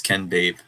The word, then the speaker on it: Ken Babe: Oh yeah, Ken Babe says it's Ken Babe, like baby.